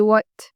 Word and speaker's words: what: For example, if I say what, it should be what. You have the T sound there.